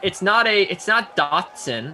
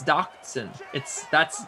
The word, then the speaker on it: Doctson: It's not Dotson. It's not Doxson. It's not Doc. It's Doctson. The T is very disruptive in his name.